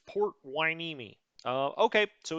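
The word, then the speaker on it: Port Hueneme: i picked port waineeni that is how you pronounce it i know it's a running joke how i pronounce things sometimes but that is port wineme uh okay so it's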